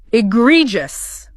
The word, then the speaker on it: egregious: Our next word, egregious, pronounced I-G-R-E-just. Ah, egregious.